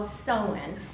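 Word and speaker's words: Samhain: is the pronunciation that Rick rule it's called so sullen and it's not felt that way at all but it's called Sonnen and it's a Gaelic festival marking the end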